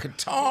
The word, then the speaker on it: Qatar: Qatar. Qar, I think is how it's pronounced.